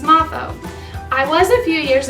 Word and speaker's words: Moffo: And I've heard all kinds of pronunciations, and the proper way to say it is Mrs. Moffo.